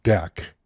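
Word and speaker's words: deque: which they were inserted the double-ended Q object pronounced deck can push and pop from either side allowing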